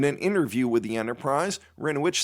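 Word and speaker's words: Hryniewicz: Rinowich, and that is spelled H-R-Y-N-I-E-W-I-C-Z, Rinowich, is running for a seat on the planning board after a year of deepening involvement in town processes.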